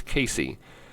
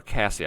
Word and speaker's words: Casey: Combination winner was Humphrey's Piglet out of Rocky Ridge Alpha and Humphrey's Casey. Then that comes from or Cassie I believe is correct pronunciation.